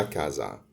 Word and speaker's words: casa: ناخد بالنا ان حرف الاس بين اتنين متحرك بيتنطق زد زي الانجليزي بالظبط، فعشان كده بننطقها لا كازا.